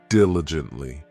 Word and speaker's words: diligently: This adverb has 4 syllables, and the stress is on that first syllable, diligently.